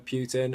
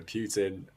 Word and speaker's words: Putin: yes i called him putin it's how you pronounce it in the uk it's like how we